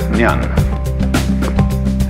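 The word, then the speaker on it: 念: very interesting sign this it's pronounced Nan Japanese n and the top part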